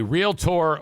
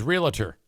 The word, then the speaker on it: realtor: orientation and told them how to pronounce realtor, just two syllables." Uh, yeah. I for the longest time I thought it was realtor, but it's You're right. It's real tour.